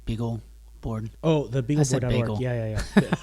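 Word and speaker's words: BeagleBoard: TI built this uh The Bagel board and um um maybe I said it wrong beagle board oh the Beagle board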